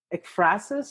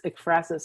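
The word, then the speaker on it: ekphrasis: I may be pronouncing it wrong, but there's this Greek word efrasis, I think it is. It's e k p h r a s i s. So yeah, it's efrasis.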